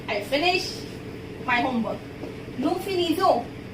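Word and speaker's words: nous finissons: The sound of ONS. O till O. Nu finizo. Till O only. And and s been not pronounced. Okay, we didn't pronounce n and s because it is consonant.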